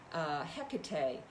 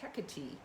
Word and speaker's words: Hecate: And today I'm really bringing in, and she wanted to be heard, Hecate. How I've always said her name, but when I actually recently went and looked at the Greek pronunciation, it's Hecate.